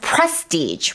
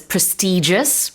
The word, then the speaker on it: prestigious: Our listeners will have noticed there two different pronunciations for this prestigious which is the American way I say prestig which is the British way and I believe Canadians also say prestig but both are correct 명성이 있는 권위가